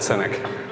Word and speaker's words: SYNEK: wow okay how many people knew how to pronounce cynic before I just said cynic okay so about a year ago uh we